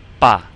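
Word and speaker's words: 爸: A sound here, and it sounds just like the A in ma. Like when you're asking a question, just like na for the word for that we just practiced. And now we just have a B in front of it, so we come up with ba.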